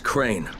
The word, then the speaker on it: Crane: store no my name's crane crane crane rhymes with train and brain and sane and grain and rain